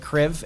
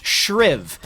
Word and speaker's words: Shriv: rotate over here with Kriv, and they're going to just try and get the burn out of this. I keep pronouncing this wrong. It's Shriv.